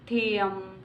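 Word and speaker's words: തെയ്യം: ओटंथुल, कुदियट्टम, ये थेयम नहीं है, थेयम है, थोड़ा स्पेलिंग का है, आप देख लेना।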